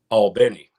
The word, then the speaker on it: Albany: Just Albany. Albany. I always get it wrong. I love that. Everybody but people from Albany say right. But I've been corrected. I have a very good friend from Albany, and I've been corrected multiple times.